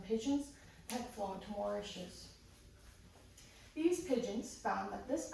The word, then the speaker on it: Mauritius: The only place that the dodos ever lived was on the island of Mauritius, pronounced Mauritius. Mauritius is smaller than Rhode Island.